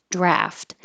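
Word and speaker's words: draught: has an A and that pronunciation for Americans is draft so British would use the ah more draft an American draft but you will see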